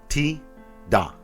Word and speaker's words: Tidus: So how about our friend from Final Fantasy X? Ti-Da. So yeah, we're all saying it wrong and we're all saying it right.